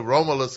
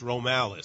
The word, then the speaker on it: Romalis: So I don't know where the Romulus come from. You know, like you're like some Greek. You trying to adopt. You're from the lower Ninth Ward. Mispronouncing it. It's Romalis. It's you see, Romalis.